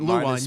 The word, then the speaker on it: Lewan: But yours isn't Luwan. But pronounced the same way. Luwan. So, yeah, but see I'm saying Luwan cuz I'm used to using the wood, but yours is more Luwan. Luwan.